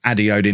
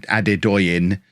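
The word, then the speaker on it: Adedoyin: front four um and addy odin is definitely going to be one of those we are ade doyin gotta learn to say his name properly um leading player in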